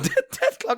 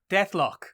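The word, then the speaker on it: Deathlok: Death Clock is an actual thing.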